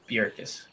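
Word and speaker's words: Bjerkaas: Paige Bajurkis. How do you say the name? Yeah, that's right. Bjurkis. Yeah, I think the J is silent in there. Bjorkis.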